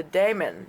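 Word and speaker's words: daimon: In mythology, the diamond is often linked to the daemon, or inner light, that leads us to our true self, or purpose, or destiny. And that's spelled D-A-I-M-O-N, by the way, probably closest to demon.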